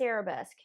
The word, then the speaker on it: arabesque: Not arabesque.